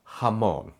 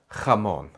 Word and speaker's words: jamón: Both are correct, but here in the United States, the overwhelming majority of the time, you'll hear that softer, chill J. Some words that use J are jefe, joven, trabajar, jamón.